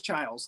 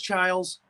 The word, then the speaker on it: Chiles: her name is Lois Childs the actress trials I was wondering how do you say the trials yeah Lois Chiles c-h-i-l-e-s I always I always thought it was Childs like Julia Childs uh yes Julia Childs